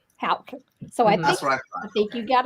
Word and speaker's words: Houk: Houk. Houk.